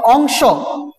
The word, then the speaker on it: অংশ: এই যে এটা উচ্চারণ করছি অংশ, স উচ্চারণ করছি, অ এর উচ্চারণটা কি হয়ে যাবে? ও এর মতো হবে, অংশ।